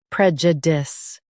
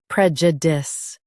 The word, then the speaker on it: prejudice: Prejudice. Both US and UK have the same pronunciation of this word. Prejudice. Now read the syllables shown on the screen naturally. Dis. Prejudice. Emphasize prej and soften dis.